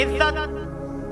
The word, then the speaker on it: عزّت: यहाँ जे के ऊपर तस्दीद की एराब है।